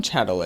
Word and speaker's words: chattel: whatever on the TV but it's not it's spelled c h a TT l so what a chadel is and how it